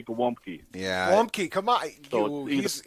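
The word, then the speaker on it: gołąbki: The L has a slash through the middle.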